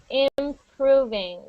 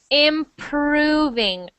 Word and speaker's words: improving: word you just said improving say that one more time so that R sound improving R not R so I'm hearing improving I want to hear improving improving improving improving much better